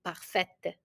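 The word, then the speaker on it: parfaite: say per for female because it ends with an E we will have to pronounce the T and we say perfet Okay per perf it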